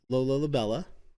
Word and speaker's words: Lola La'Bella: Now, today we have Lola Labella, right?